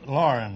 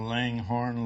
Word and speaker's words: Loughran: Is that the way you pronounce it? Lauren, that's close enough. I've been called Langhorne, Laughlin, and lots of names.